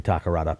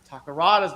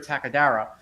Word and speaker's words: Takarada: I remember when I was a kid, I used to pronounce Akira Takarada's name Akira Takadara. For whatever reason. I don't know why. It's just like I didn't have good old Akira Takadara.